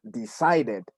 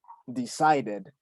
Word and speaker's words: decided: lo cual se pronuncia decided. Ahí sí se pronuncia la ed cuando termina en estos sonidos, en D o en T. Sí se pronuncia la ed, decided, decided, ¿sí?